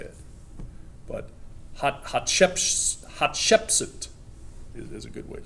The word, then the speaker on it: Hatshepsut: Hot would be better word instead of, hot ship suit. Hatshepsut.